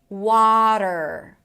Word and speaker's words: water: The second syllable is dur. That's a flap t that shifts into an r. water. Water. And yes, you guys, this is American pronunciation. In British English, the t is actually going to be closer to a regular tea.